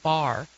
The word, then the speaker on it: barre: new and fitness but it's called bar and it's spelled ba RR e I'm not like just